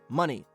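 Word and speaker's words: munny: Now, Kingdom Hearts does use its own currency called money. It's spelled M-U-N-N-Y, but I'm not sure if this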